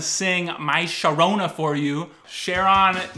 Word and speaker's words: Charon: my Shona for you Sheron not pronounced Karen although that would be mythologically correct one of Pluto's five